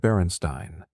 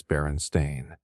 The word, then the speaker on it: Berenstain: Most people swear it's spelled Berenstein, with an E and an I, but it's not. It never was. It's Berenstain, with an A.